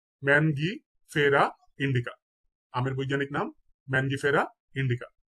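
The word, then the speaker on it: Mangifera indica: কর্কোরাস ক্যাপসুলারিস কর্করাস ক্যাপসুলারিস আমের বৈজ্ঞানিক নাম হচ্ছে ম্যানগিফেরা ইন্ডিকা ম্যানগিফেরা ইন্ডিকা আমের বৈজ্ঞানিক নাম ম্যানগিফেরা ইন্ডিকা কাঁঠাল কাঁঠালের বৈজ্ঞানিক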